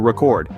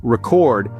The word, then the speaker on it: record: The word record. When you stress the first syllable, record, it's a noun meaning a piece of data or information stored for future reference. But if you stress the second syllable, record, it turns into a verb meaning to capture sound or video for future use.